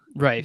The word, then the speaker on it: Rife: Oh man, David, are you ready for this Matt Riff concert? How do you say his last name? Rife, I Riff?